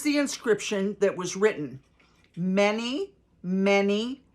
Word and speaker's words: Mene: This is the inscription that was written: Mene, Mene, Tekel, Parsin. So it's spelled M-E-N-E, Mene, comma, many, M-E-N-E, comma, Tekel, Tekel, comma, Parsin, Parsin. Here's what these words mean.